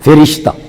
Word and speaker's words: فرشتہ: فرماندا ہے۔ او فرشتہ فا دے نیچے زیر پڑھیے تے تلفظ درست ہے، فرشتہ۔ او فرشتہ اس عالم